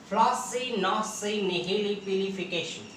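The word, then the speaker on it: floccinaucinihilipilification: तो हमारे साथ आप प्रोनाउंसिएट कीजिए, इसका उच्चारण कीजिए, प्रोनाउंसिएट कीजिए इस वर्ड को। फ्लॉसी नॉसी निहिली पिलिफिकेशन।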